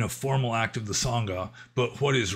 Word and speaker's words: Sangha: Like in Burma, Burmese pronunciation of Pali, S is pronounced like TH. Like you don't say Sangha, you say Thanga.